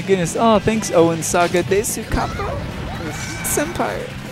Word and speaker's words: desu: Oh, thanks, Owen Saga Desu Kappa. Senpai. You don't pronounce the U. Do you not? It's this. Are you sure? Why would they write a U if you don't say it?